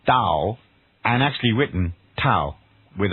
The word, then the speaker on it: Tao: tears in Tommy a-o-i-s-t so it's written Taoist and pronounced with a d Taoist that was confused